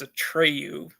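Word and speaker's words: Atreyu: that's how he's uh that's how his name is pronounced it's a tryu okay how the audio book said it um let's see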